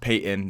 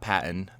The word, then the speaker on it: Paton: has done is george payton and yes it's pronounced payton not patton george payton has not